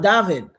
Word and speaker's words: D4VD: Oh, you're talking about David, the singer. D4VD. His name is spelled D with the number 4, which is supposed to be the letter A, D and VD. So it's David or David.